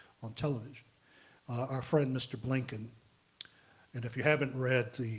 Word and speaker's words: Blinken: Well, Blinken does rhyme with Lincoln.